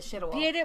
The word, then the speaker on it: Szydło: And that's why I went to Beata Szydło back because I finally learned how to pronounce her name. No, it's Beata Szydło. Beata Szydło. Szydło. It's Szydło.